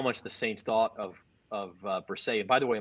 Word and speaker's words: Bresee: It shows you how much the Saints thought of Bresee. And by the way, Bresee is how we pronounce it? Bresee.